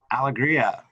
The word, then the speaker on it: Alegria: time with the last name how do you pronounce that alegria so we have kristen alegria with joe so